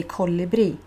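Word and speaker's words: colibri: is of that but in sweden we say co libri so it's not just in that place where you actually say ko libri you say ko libre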